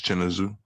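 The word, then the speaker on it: Chinweizu: I see it I see it uh chin pronounced What's his name? I think it's Chennazoo.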